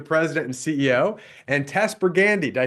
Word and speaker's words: Pergande: I've got Brennan Quintus, who's the president and CEO, and Tess Pergande. Did I say it right, Tess? Yes. Oh, I was so worried about that. And she helped me out. Tess Pergande.